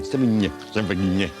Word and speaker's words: Sevigny: The Brown Bunny co-stars Chloe Sevigny, a girl who would be tons more famous if only people could pronounce her name. Sevigny.